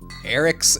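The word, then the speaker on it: Arich: Alright, Eric's ambush. His name is Eric, but it's spelled like he's an arachnid.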